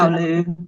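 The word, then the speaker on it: Hailuo: because I'm part of Huluao, however you pronounce it. Howloo.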